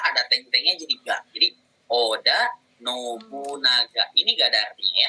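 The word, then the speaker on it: 織田: Oda. Oda ya, bukan oga.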